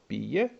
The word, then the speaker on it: pije: So we also have jesti, jede, which means eat, piti, pije, which means drink, so pije, 2 syllables, and then plakati, plače, cry, plesati, pleše, dance, and so on.